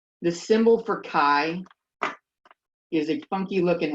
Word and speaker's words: chi: This sounds like chi or like bi. Rhymes with bi. The symbol for chi is a funky looking X.